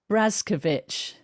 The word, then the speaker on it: Brazkiewicz: with my guest now i need to actually pronounce this correctly because um he's just um um corrected me it's brazkovich yes and he is the acupuncturist and osteopath